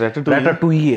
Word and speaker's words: Ratatouille: It's Ratatouille, that is. Finally I got the pronunciation.